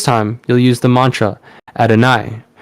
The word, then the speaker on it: Adonai: Now, you're going to charge this symbol exactly as you did before, only this time you'll use the mantra Adonai, pronounced Adonai.